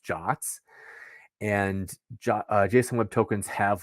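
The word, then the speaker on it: JWT: it's in the specification it's called if it's pronounced jots and Json web tokens have like intrinsic structure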